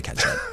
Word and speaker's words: catsup: catsup I hate that catsup I don't think they say it I think they spell it that way and then they say it differently wait a minute so